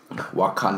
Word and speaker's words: Wakanda: How did he pronounce this so wrong? Wakunda. Wakanda.